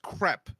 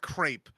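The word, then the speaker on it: crêpe: of opinions about breakfast boards number one it's pronounced crep okay not crepe okay you heathens all right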